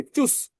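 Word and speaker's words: Tschüss: দেখেন চুচ এবির মত করে এটাকে ডবল এস উচ্চারণ করেন তাহলে কি হয়? চুস।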